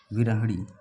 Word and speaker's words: विरह: है विरह विर हड़ी विरह तो यह री तो गई यह भी री गई इन दोनों में आपको 5050 खेलना पड़ेगा विरह य उच्चारण करके देखेंगे विर तो ही इसमें आता है ये बचा इसमें